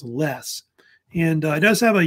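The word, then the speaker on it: loess: pronounced it's spelled l o s but it's pronounce less and it does have a yellowish brownish color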